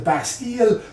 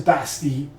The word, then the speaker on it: Bastille: Most people pronounce it the Bastille, but if you really want to kind of get your chops in as a French speaker and as a person